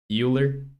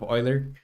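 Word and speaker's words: Euler: say does anyone remember how Roman pronounced uh Yer as uh Oiler well uh yeah like it's Oiler angles you corrected that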